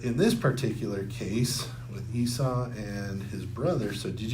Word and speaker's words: Esau: And so I'm just going to tell you right now, I'm going to say Esau's name wrong during this lesson because whenever I come